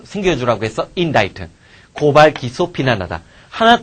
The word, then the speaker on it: indict: 자, indict. 그 다음에 indicate는 나타내다, 가리키다라는 뜻이고, 그 다음, indict. 얘가 이제 참 대책 없지. 얘랑 얘가 발음이 사실상 똑같단 말이야. C가 묵음이 돼버리니까.